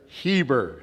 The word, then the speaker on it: Heber: Shadow Pines up in how do you say the Heber? There it is. I I called it Herbert this whole time.